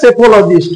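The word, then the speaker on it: psephologist: মেমোরিতে রাখলে বুঝে নেবে সেফোলজিস্ট উচ্চারণটা সেফো পি এর উচ্চারণ হবে না ইলেভেন স্কাল্পর স্কাল্পর তাকে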